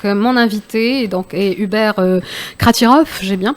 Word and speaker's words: Kratiroff: Donc mon invité donc est Hubert Kratirov, j'ai bien prononcé hein.